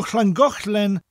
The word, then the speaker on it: Llangollen: So you already know how to say the double L at the beginning of a word. When we get to the double L in the Gochlen bit, it sounds slightly different. It sounds like the pronunciation Goch, as in Van Gogh, the Dutch Impressionist painter, followed by a slight L sound. Chl. Gochlen. Gochlen. Llangollen.